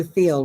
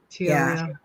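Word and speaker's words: Thiel: Peter Theal, right? Teal. That's how you pronounce it. Teal.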